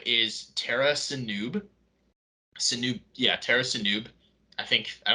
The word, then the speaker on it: Sinube: Um, his name is Tara Sinub. Sinub, yeah, Tara Sinub. I don't think it's pronounced Sinube. There's like a silent e at the end.